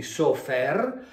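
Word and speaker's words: סופר: Se noi invece di mettere questi due suoni vocalici mettiamo questi due, questa è una O e questa è una E, qui abbiamo SOFR, quindi sofer, che significa segretario, significa scriba, significa enumeratore, cioè uno che fa dei conti.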